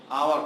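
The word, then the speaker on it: hour: जैसे हावर होता है एच को, लेकिन हम उसका सही उच्चारण जो होता है आवर होता है।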